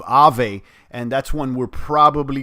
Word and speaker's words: Aave: digitex future engine uh aave which is pronounced i believe ave and that's one we're